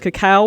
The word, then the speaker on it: cacao: this nike sb dunk low so it is pronounced cacao wow summit white and we're grateful for cacao